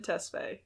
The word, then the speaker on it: Tesfaye: butcher this i apologize i'm pretty sure it's pronounced tesfay able abel mccannon tesfaye that's his full name yes powerful name so